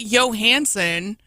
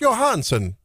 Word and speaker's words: Johansson: How do you get Scarlett Johansson out of Johansson? Well, sometimes J's are pronounced like Y's in Europe.